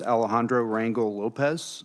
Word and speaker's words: Alejandro Rangel Lopez: Our final conferee is Alejandro Rangel Lopez. I'm sorry if I butchered your name, sir.